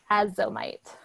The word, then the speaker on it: azomite: I'll spell it out and send it through the chat. It's called azomite.